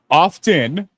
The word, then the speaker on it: often: adding the N, but technically it used to be oft and the T was pronounced.